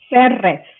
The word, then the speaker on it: Serres: Serres. Serres, yeah, ¿verdad? Yes. A mí algunas veces se me pone difícil la doble R, porque trato de decir Serres, pero no Serres porque otro diferente tipo de palabras.